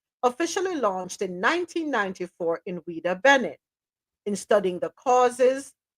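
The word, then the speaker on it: Ouidah: gift you're like okay how do you pronounce this um ad so o UI d a is it weeda yeah WEA WEA okay yeah so the slave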